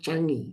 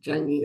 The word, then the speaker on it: Changi: village village hotel near the is it it's pronounced Changi Changi airport everything was smooth I flew back I'm